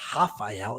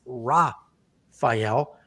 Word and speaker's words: Rafael: Rafael Fiziev, I always do the Brazilian pronunciation of these names, but he's not Brazilian, so it's not Rafael, it's Rafael.